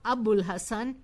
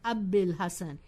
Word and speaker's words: Abdil Hassan: And similarly, it is not Abul Hassan, it is Abdil Hassan.